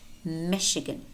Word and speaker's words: Michigan: them by heart Chicago Chicago Champaign parachute parachute Michigan Michigan brochure brochure chandelier chandelier Chevrolet Chevrolet notice how the final T is pronounced yet Chevrolet machine machine and it might